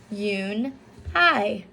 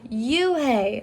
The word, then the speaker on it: Unhei: shannon no no corrected it's spelled u n h e i it's pronounced yoon hi oh you hey a boy said like